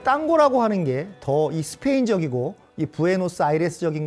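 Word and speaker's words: tango: 춥니다 참고로 말씀을 드리면 탱고는 영어식 발음이고 스페인어로는 당고고 발음합니다이 땅고 하는게 더이 스페인적이고이 브에노스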